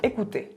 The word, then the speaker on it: écoutez: cuando por ejemplo digo écoutez, escuchen. Écoutez l'enregistrement, escuchen. Termina en Z, pero digo écoutez.